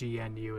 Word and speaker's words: GNU: No, it is, well, yes, but because the whole thing is it's GNU, like it's not new, like it's GNU, it's GNU, and GNOME is an extension of that.